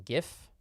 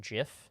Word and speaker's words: GIF: think that that's bizarre I also pronounce them GIF though the book does make a joke that you could pronounce it Jif um but GIF is the side that I I sighed on I I think